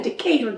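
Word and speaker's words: Decatur: we're in decab County Georgia which is in decator Georgia decator decab deur and it's weird cuz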